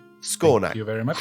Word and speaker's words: Skawnak: could speak common sorry could you could you spell that name maybe scor yes it's SK a w n a k scor thank you very much and his little